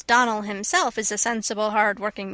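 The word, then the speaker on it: Donnell: not as for that don nell woman she'll get no don knelling from me i can assure you the name is donal and always has been the woman is crazy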